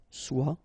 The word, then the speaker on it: soit: Okay, then of course être and avoir, so être will become soit, remember final S is not pronounced, soit, then soyons, soyez, all right?